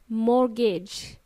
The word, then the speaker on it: mortgage: we pronounce it as mortgage T is silent yes there is a t in this word mortgage m o r t g a g e mortgage T is silent